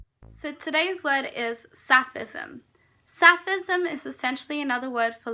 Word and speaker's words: Sapphism: lesbianism and I think rhymes with plenty of other words you've got baptism Sufism so against each other um Catholicism if you want to take it there but you can also capsicum sophism very close sounding you've also